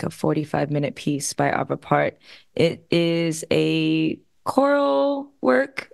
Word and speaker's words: Arvo Pärt: should we go for Arvo Pärt? Yes. Would you pronounce it Arvo Pärt as well? I think so. I mean, I'm going by the German version of the A with the umlaut, so same, I think so.